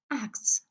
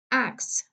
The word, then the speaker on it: acts: Acts, acts, acts. So the te is not pronounced.